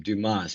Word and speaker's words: Dumas: Okay, remember that name, Dumas. If you want to spell it in your head, Dumass, right? The way he spells it.